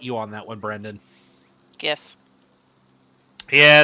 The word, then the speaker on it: GIF: a true Missouri see soft G like in Jiff exactly oh I will fight you on that one Brandon gif yeah it's been good